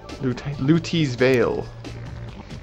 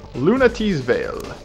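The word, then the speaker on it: Lunatea's Veil: Lutee's Veil. Lunatee's Veil, or whatever. Lunatee's Veil. That is it. That's how it's pronounced.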